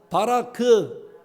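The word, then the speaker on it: ברך: 히브리어 발음상 따라해 주세요. 세 글자. 바라크.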